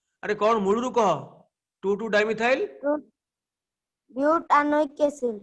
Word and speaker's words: butanoic acid: कह 2,2-डाइमिथाइल butanoic acid ब्यूटानोइक एसिड संधि हे गेले कोन हे गेला butanoic acid हाँ ब्यूटानोइक एसिड ईटा कटि गला माने तार उच्चारणटा चेंज हे जिवो ब्यूटेन ओइक एसिड ईटा कटि गला ब्यूटानोइक एसिड कोन आउतरे को 2,2-dimethyl